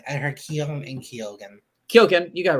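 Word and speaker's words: Keoghan: his name right I heard Kim and kyogen kyogen you got it right okay um yeah okay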